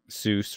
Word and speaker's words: Seuss: with Mother Goose so because his name rhymed with goose Seuss rhymes with goose he he that was